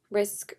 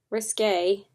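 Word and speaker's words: Risqué: with my MAC Cosmetics Risk Liner. Risque. I always thought it was called Risk, and then I found that I was, like, saying it wrong. I was like, whoops, it's called Risque, not Risk, Caitlin, and I kept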